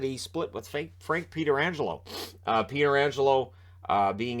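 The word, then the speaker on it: Pietrangelo: stanley cup 91-92 and it is peter angelo even though his relative pronounces a petrangelo and plays for the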